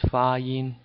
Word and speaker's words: 发音: Okay, pronunciation, 发音, these are two first tones, 发音.